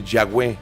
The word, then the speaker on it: Yahweh: ahí viene el nombre Yahweh y realmente no tiene pronunciación porque son puras consonantes pero si quisiéramos hacer una pronunciación parecida a lo que es sería como un respiro o un suspiro de ahí viene el